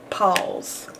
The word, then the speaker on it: pause: it's missing and E there's a silent E on the end of Paul's usually when something ends